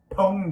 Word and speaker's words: pwned: no fair enough uh pwned is a derivative it is spelled p w and d but it's not an acronym as it turns out uh it's just um it's just this is driven from own it's just like it's